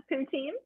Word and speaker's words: poutine: is that how you say it yeah yeah poutine what do you think because i've seen what